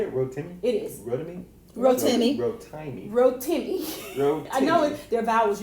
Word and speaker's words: Rotimi: So it's like Timmy. Yeah, it's Ro and then Timmy. Yep. So is his name Timmy? Nope, it's Rotimi.